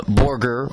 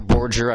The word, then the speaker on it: Borger: of course straddles uh Borger or Borger I've heard it pronounce both ways they have a veteran